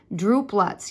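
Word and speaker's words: drupelet: we call druplets okay droop lots yes it's spelled just like droop meaning inside of each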